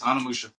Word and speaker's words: Onimusha: But that was first time I played Anamusha. I think that's what it's called. I think that's how you pronounce it. It is. Anamusha.